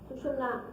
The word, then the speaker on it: सुषुम्ना: कोई सुषुम्ना कहते हैं, कोई सुषुम्ना कहते हैं, तरह तरह के इसके प्रोनाउंसिएशन हैं, लेकिन सुषुम्ना इसका सही माने में प्रोनाउंसिएशन है, जो कि आप मंत्र में भी उच्चारण कर सकते हैं। यह सुषुम्ना नाड़ी जो है ये